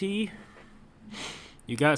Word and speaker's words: Jyugo: okay they call me jugo yours is pretty nonsense cool - then you want to talk 15 is pronounced as you go that's enough I didn't